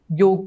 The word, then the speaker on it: योग: हाँ, मैंने कहीं बोला था, मैं बोलती रहती हूँ, चक्र को चक्रा, योग को योगा, हमारे ही लोग, कृष्ण को कृष्णा, राम को रामा, ओ भगवती रामा।